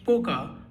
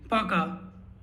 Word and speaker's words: пока: So you don't say Poka, but you say Пока.